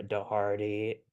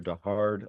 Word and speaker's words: De Hardy: uh pretty good um bonus points for you for pronouncing my last name correctly I try my best I try I try my best cannot tell you how many times I've heard dard over the years um if